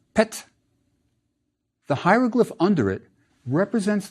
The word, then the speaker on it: pt: Our last word has a rectangle, which is a p, and a semicircle, which is a t, so it's pronounced pet.